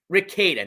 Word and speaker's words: Rada: I've already corrected myself but Rada not Raa so Nick Rada case